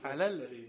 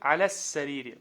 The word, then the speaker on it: على السرير: Аляль. على السرير. Да, ударение идет на син сразу, да? Аляс, потому что шамсия. Да, да. Говорим аляс сарири.